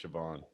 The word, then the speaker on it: Siobhan: That's Siobhan.